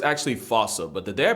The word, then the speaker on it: fossa: predator and a bane to lemurs everywhere, the fossa. Although with its spelling, I'm pretty sure it's actually fossa, but the day I pronounce it like that is the day I lay my childhood to rest. The fossa is pretty much a Madagascar mongoose.